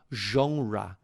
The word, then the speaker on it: genre: Porém, na palavra genre, o som não é de J, e sim de J, porque ela mantém a pronúncia original do francês, então fica genre.